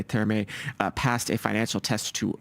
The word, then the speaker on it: Therme: You're calling it Therme, which I guess is the English pronunciation. I'm calling it Terme because technically the German pronunciation of the word doesn't pronounce the H rather.